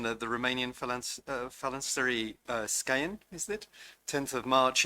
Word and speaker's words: Scăieni: And if you'll forgive my pronunciation, the Romanian Phalanstery Scăieni, is it?